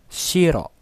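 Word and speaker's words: しろ: fourth word is Shiro so Shiro has two syllables the first syllable is she and the second syllable is raw so in the graphics in zero White you can see in the first syllable it has a high pitch and the second syllable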